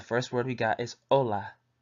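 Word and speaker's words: hola: word we got is Ola which means hello in Spanish pronounced o la adios which means bye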